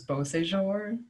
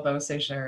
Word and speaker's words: Beausejour: live in Quebec and if I say my name with an English accent cuz that's like how I've been raised people are just like what's your name maybe like Michelle bow say sure and they'll be like